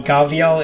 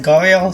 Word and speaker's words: gharial: And in certain linguistic quirks, you can occasionally hear people call it the Gharial instead of the Gharial, so it's entirely okay to pronounce it both ways, though Gharial is the most widely accepted.